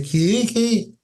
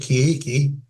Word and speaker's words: Kiiki: The Kiiki, and that's how I pronounce it, Kiiki, are a toad-like enemy.